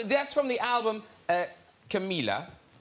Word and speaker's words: Camila: H So that's from the album uh Camila.